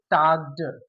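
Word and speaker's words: talked: इसे पढ़ेंगे टाग्ड, टी ए है, टा, एल साइलेंट है, टाग्ड, टाग्ड पढ़ेंगे, टाग्ड।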